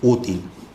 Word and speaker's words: útil: Me interesa la parte adjetiva, útil. ¿De acuerdo? Entonces, la palabra útil, tiene sílaba tónica en U, por lo tanto es grave.